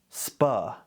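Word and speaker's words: spuh: SPA. This is literally just birders pronouncing the SP abbreviation.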